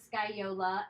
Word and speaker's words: scagliola: put a link it's sky Ola and CA GL I can't do it inside but the pronunciation of sky Yola and it's a 15th